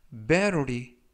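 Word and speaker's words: battery: 표현이 되겠습니다 이번 표현은 메로 리 메 로리 메로 리 라고 발음 하시면 되겠구요 이때 t 발음을 부드럽게 트가 아니라 르 어른 그래서 메로 리 라고 발음 하시면 되겠고요 품사는 명사 뜻은 배터리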